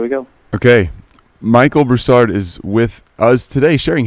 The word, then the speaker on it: Broussard: the last name the way you want it pronounced brousard that's what I would have thought okay just